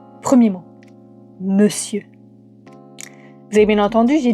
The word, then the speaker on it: monsieur: Premier mot, monsieur. Vous avez bien entendu, j'ai dit monsieur. Pourtant on écrit monsieur. Le on disparaît pour devenir eux. La raison, bah au Moyen-Âge, on ne disait pas monsieur en un seul mot, mais mon monsieur.